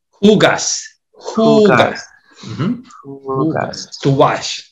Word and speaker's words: hugas: Huegas. Is that how you say that? What, how do you say the H again? Hugas.